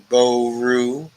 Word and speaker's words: Brian Boru: Pronounced Boru.